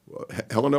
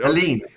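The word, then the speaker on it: Hélène: slide of this rick of the hella helena what if i pronounce that correctly helene here we go put your friend get your french on got it helene it's my new word new pronunciation for the day that award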